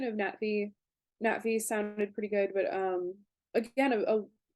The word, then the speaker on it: Na'vi: Like, a lot of people use like the Colonel Quaritch pronunciation. We have an Yeah, indigenous population of humanoids called the Navi. yeah, a lot of people say Navi and Yeah, don't even do the glottal stop.